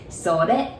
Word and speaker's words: それ: And then it, I know it says sore, but we say それ.